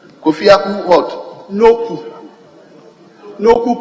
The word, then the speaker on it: Noku: Right, Honorable Speaker, my name is Kofi Akun Noku. Kofi Akun what? Noku. Noku pronounced as in a U. Okay. N-O-K-O-E, but it's pronounced Noku.